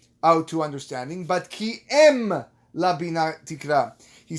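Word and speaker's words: אם: Targum Yonatan says here the word im should be pronounced em.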